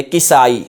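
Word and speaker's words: Kisa'i: इसके बाद है जी किसाई यह काफ पर जबर नहीं पढ़ेंगे इसको काफ के कसरा से पढ़ेंगे किसाई मुब फर्र सालब और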